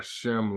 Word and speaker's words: Shem: mean that you're not from the Semitic or Shem line okay this is the linears of the symbol you pronounce this Shem for the years we said